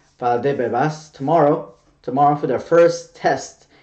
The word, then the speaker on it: Valdebebas: So Real Madrid players start going to Valdebebas. I keep saying that name wrong. Valdebebas tomorrow for their first test, and everything goes well, they will start training.